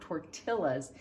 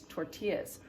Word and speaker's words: tortillas: to say the word remember that that double-l makes the yuck sound it's not tortillas it's tortillas remember from quesadillas it